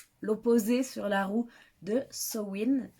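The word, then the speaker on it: Samhain: sur la roue de sowind sowind qui s'écrit sa main mais qui se disent au wynn qui en fait et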